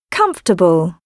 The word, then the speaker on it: comfortable: Family Medicine restaurant separate pronounced with three syllables comfortable dictionary interesting miserable ordinary